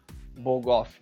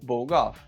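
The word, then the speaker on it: BOGOF: um acrônimo e que ele deve ser pronunciado com uma palavra e não pronunciado letra por letra. É o que nós vemos no segundo parágrafo. Então, bog-off deve ser pronunciado bog-off e não B-O-G-O-F.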